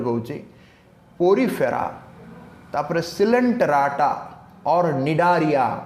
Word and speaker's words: Cnidaria: आउ थरे कहूची पोरीफेरा, तापर सिलेंटराटा और निडारिया. नॉट सी अछि बट सी इज साइलेंट. जिमति कि टेरिडोफाइटा पी अछि, पी is silent. Okay, pteridophyta बोली कहला. सिमिति CNIDARIA स्निडारिया हबनी केबे, ता कोन हो निडारिया हबो.